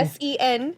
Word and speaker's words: Sen: So, and that's Sen Technologies. Sen Technologies is the name of that company. S-E-N.